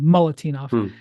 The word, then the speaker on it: Milutinov: They sat Nikola Moltenov, who is Milutinov, I believe is how you say it. Mulatinov, I think is actually, I said it wrong. Mulatinov.